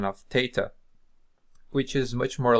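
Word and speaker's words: θ: Is the tau, pronounced as our regular T.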